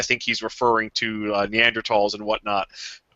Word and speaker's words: Neanderthal: uh neanderthals and whatnot i pronounce it neanderthal damn it um fine if no one's getting after you well i i'm so i'm so used to people trying to correct me even though that's the correct pronunciation i just get very